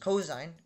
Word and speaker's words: cos: Sin, pronounced sine, cos, pronounced cosine, and tan, pronounced tangent.